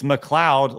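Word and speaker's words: MacLeod: And then we have this uh Craig Craig's pronunciation is right. It's Mloud like or Mloud really fast.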